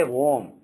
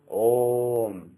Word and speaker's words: Om: So this is not, you should never say Om. You should always say Om. There is no Vakara there.